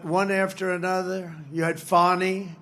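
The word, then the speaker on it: Fani: But one after another, you had Fonnie, F A N I, which is usually pronounced Fanny.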